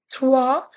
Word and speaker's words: trois: 3, trois. In the last class, I told you OI has OA sound.